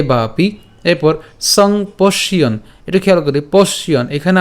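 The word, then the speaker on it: সম্পশ্যন্: তাহলে সংপশ্যন পর্যন্ত উচ্চারণ করলাম, ঠিক আছে, সংপশ্যন, সংপশ্যন।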